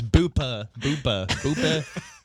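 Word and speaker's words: Buca di Beppo: Not Starts with Booba de Beppo. It's Boopa di Beppo.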